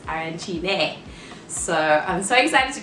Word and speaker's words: arancini: at the end it's arancini and if it has the e then it's arancine so i'm so excited